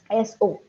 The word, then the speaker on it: so: Um, S-O. S-O will be pronounced as so. Okay, So, but I think you were pronouncing it as show.